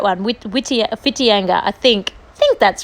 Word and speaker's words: Whitianga: It is one of those New Zealand towns that has a W, but you don't pronounce the W. You say like F instead of W.